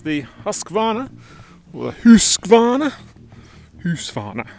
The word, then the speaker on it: Husqvarna: Husqvarna. How do you actually pronounce it? Can someone tell me? I get comments all the time. Husqvarna, it's not Husqvarna, it's Husqvarna.